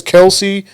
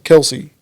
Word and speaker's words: Kelce: They call themselves Kelce. But it's really supposed to be Kels, though, right? They said they don't care how you pronounce their name, man.